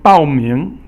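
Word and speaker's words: 报名: And 报名 is basically to sign up. 报 is fourth tone, and 名 is second tone.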